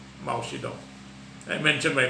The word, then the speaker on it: Mao Zedong: It rhymes with Pamatong, but now it's pronounced as Mao Zedong.